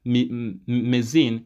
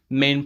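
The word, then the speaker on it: mesne: will pronounce it as Meine it is m e s n e it's m pronounce it's pronounced as main profits or damages so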